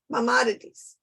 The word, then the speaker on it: Maimonides: Maimonides.